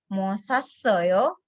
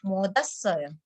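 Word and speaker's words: 못 왔어요: Jadi misalkan tadi ada mood, ada wasoyo, itu membacanya bukan mosasoyo, tetapi modasoyo. Kesarami modasoyo oner.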